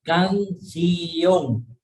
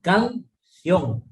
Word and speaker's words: canción: En la que es canción, mucha gente lo separa, canción, y no es así, es canción, es bisílaba, ¿sí?